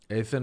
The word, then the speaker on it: Athan: in the clutch Athan is pronounced like the goddess Athena what not used